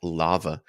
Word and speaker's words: L4VA: And then to that end, there was also Rob, not Rob from Cornucopias, but another Rob from a platform called Lava. It's spelled L4VA, but they're basically looking